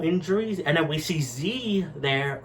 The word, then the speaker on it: Z: we see Z there or Zed however you want to pronounce his name I call him Z I know technically it's Zed but I'm gonna say Z because I'm a typical American boy so yeah we see